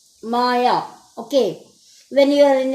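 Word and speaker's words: Maja: checked it the pronunciation it's a German name and it is called as Maya Maya okay when you are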